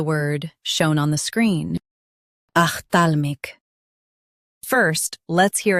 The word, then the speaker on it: ophthalmic: Ophthalmic, ophthalmic, ophthalmic, ophthalmic. Stress thal in both versions.